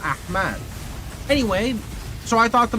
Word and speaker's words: Ahmad: It's A-H-M-A-D, Ahmed. But my mother spelled it with an extra A, so it's Ahmad, not Ahmed.